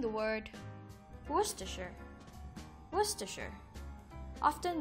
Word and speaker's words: Worcestershire: ideas we'll be pronouncing the word pasta sure Worcestershire often mispronounced as Worchester sure Worcestershire is a country in West Midlands of